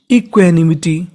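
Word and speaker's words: equanimity: यानी आपको इंग्लिश में कहीं पर क्यू यू ए लिखा मिले तो इसे पढ़ना है हमें क्वे। कभी कबभार क्वा पढ़ेंगे लेकिन ज्यादातर इसे हम लोग क्वे पढ़ते हैं। क्या पढ़ते हैं? क्वे। तो मीनिंग बनी इक्वे एन आई नी इक्वेनी एम आई मी। और गौर करना है टी वाई पर। टी वाई को पढ़ते हैं टी। तो मीनिंग बन गई इक्वेनिमिटी। इक्वनिटी। अब इसको एक साथ पढ़ते हैं इक्वनिमिटी।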